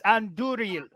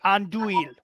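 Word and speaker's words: Andúril: It's Anduril, not Anduil. There is an R in the name.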